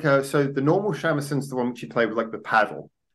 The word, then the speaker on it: shamisen: But also, I don't know how you pronounce it. Seamuson, is it? Or shamisen, the three string. Oh, shamisen, sorry. Shamisen. Shamisen, yeah. It sounds so Irish.